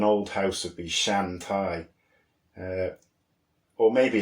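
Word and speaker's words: taigh: Thai quite phonetically whereas in Scottish it's Scottish garlic it's Thai written t-a-i-g-h and that shows you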